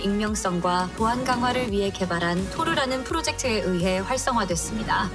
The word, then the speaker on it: Tor: 다르파, 이 두 개의 기관이 군사통신의 익명성과 보안 강화를 위해 개발한 토르라는 프로젝트에 의해 활성화됐습니다. 아 이 토르 망치 말인가요? 물론 이건 짝퉁입니다만. 네, 발음은 같아요.